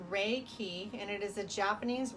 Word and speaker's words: Reiki: So, it is pronounced ray key and it is a Japanese word consisting of two characters.